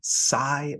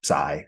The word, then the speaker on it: psi: through the use of the psi value, or you might sometimes hear it pronounced C value. It's a Greek letter, C or psi, however you prefer.